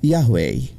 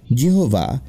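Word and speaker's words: Yahweh: আসলে শব্দটা কিন্তু হচ্ছে ইয়াহওয়ে। জিহোভা ইয়াহওয়ে কথাটারই ভুল উচ্চারণ, তবে ভুলটাই বহু ব্যবহারে এমন চেরা হয়ে গিয়েছে যে তাই এখন বিশুদ্ধ হয়ে দাঁড়িয়েছে।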